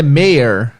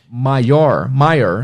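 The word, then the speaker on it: mayor: e a próxima palavra Méier Méier ver que parece a palavra maior é inscrito Quase igual só invés do ir eles vão y e muitos alunos pronunciam maior maior alguma coisa assim mas melhor significa Prefeito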